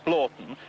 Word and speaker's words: Hornblotton: One of the things that convinced me most was her pronunciation of Hornblotton as Blorton, because I happen to